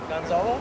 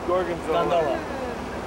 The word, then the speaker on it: gondola: How do you say it? Gonzalo? Gondola. Gondola. Gondola.